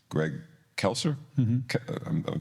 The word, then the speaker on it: Greg Kelser: that had magic to Magic Johnson and um Greg kelser am I saying that right yeah you're saying